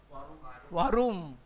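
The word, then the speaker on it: warum: Varum. Again, because W is va.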